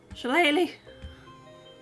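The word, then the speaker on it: shillelagh: Blackness oh right okay so here you go shalele bye SL I actually know how to pronounce shalele because I play D and D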